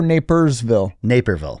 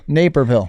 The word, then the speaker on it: Naperville: Is it Naperville or Napersville? Naperville. I think I say it wrong. It's named after a gentleman by the name of Tom Naper.